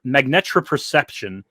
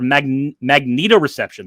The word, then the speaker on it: magnetoreception: weird to me um magneto magnetropurception or magnetoreception there we go magnetoreception i had to